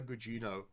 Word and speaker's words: Gugino: that's Stephen Kingdom and amazing execution and Carla cugino I hope I pronounced that correctly yes carla Gugino is phenomenal she carries well because she's basically